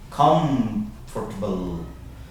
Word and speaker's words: comfortable: That M will actually start sounding like an N.